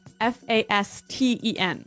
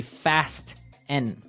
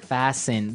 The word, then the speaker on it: fasten: interesting yes it's spelt f-a-s-t-e-n right so it would be fast n no no right fasten fasten the t kind of becomes silent so it's fasten yep